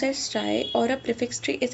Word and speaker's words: trie: A try is pronounced as try or a prefix tree is a data structure